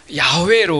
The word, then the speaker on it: 야훼: 이것은 우리가 야외 여호와죠이 여호와가 야훼로 우리가 원어적으로 발음이 가깝다 이렇게 고대 히브리어에서 학자들이 그렇게 이야기를 해요 그러면이 야라고 하는 말은